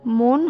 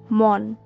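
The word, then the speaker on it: মণ: হবে ময়কার দন্তন্য মন, কিন্তু আমরা ম মূর্ধন্য মন এই শব্দটিকেও পাই, এর উচ্চারণ কিন্তু মন হবে না, এর উচ্চারণ হবে মন। এটি একটি পরিমাপক হিসাবে ধরা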